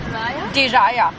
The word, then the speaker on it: Diriyah: We were originally supposed to experience and go to Diriyah. I hope I'm pronouncing it correctly. I think it's Diriyah. Do you know how they pronounce it? Diriyah or Darya? Diriyah. Diriyah. Diriyah. Yes, Thank you.